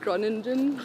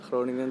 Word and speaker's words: Groningen: So you're born in, how do you say it, Groningen? Groningen, I'm yes, kind of close. yes, I looked up those tutorials of how to say it online. Yeah, that's perfect. Yeah, in the Netherlands. Yeah. Groningen in the Netherlands, yes, that's where I was born.